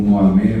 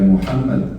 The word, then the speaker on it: Muhammad: profeta Muhammad, né, que também aqui usam a pronúncia como Mohamed, mas a pronúncia correta é Muhammad.